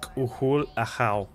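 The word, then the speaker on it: K'uhul Ajaw: Khul a how's full name is pronounced kuhul aa khul aa kuhul means sacred like a god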